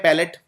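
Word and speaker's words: palate: शब्द होता है अंग्रेजी में जिसे बोलते हैं पैलेट लेकिन स्पेलिंग देखिए पी ए एल ए टी ई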